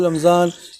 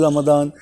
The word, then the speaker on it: Ramadan: In India, we call Ramzan. In West, you they call Ramadan.